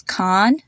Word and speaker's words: Khan: the same a sound another example is Khan Khan is actually the last name of a very popular Indian actor shukan so I hear that they all have the same a sound the next